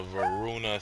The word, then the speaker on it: Veruna: Now, for the Verita City... I keep pronouncing it wrong. For the Veruna City Ruins, the first boss for the CCM is Shyman.